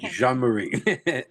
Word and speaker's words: Jean Marie: Yeah, it's like JeanClaude Vanam. Jean Marie.